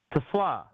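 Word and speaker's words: TeSlaa: Strofe, you're the Anyway, pronunciation guy. Tesla. Yeah, he's a professional. Tesla.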